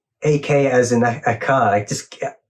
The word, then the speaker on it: AKA: Is it Aka Cosmetics, if I'm pronouncing it correctly? It's AKA. I was thinking it AKA Cosmetics, right? Yeah, it stands for Ashley Kirk Ageless.